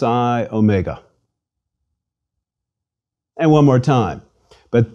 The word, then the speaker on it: omega: repeat Sai and finally Omega Omega is Big O Mega o as opposed to micro o or Omron me GA o is long like the O in open please repeat Omega o